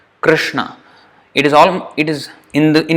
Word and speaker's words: Krishna: R is R. It's not exactly like R, but it's almost the same. So that's why it is difficult. Usually it's there is some confusion about how to pronounce it, but actually R, it's almost touching at the top.